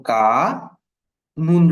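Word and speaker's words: كان: মূল শব্দটা ছিল কাওয়ানা। কাওয়ানা, কাফ জবর কা, ওয়া জবর ওয়া, নুন জবর না, কাওয়ানা। So, কাওয়ানা শব্দটা উচ্চারণ করাটা একটু কঠিন। সো এটা কি হয়ে গেল? এই ওয়াটাকে চেঞ্জ করে এখানে আলিফ চলে আসলো, অর্থাৎ নিজেরা একজন আরেকজনকে এক্সচেঞ্জ করে ফেললো। এখন উচ্চারণ হয়ে গেছে কানা। এটা খুবই সহজ।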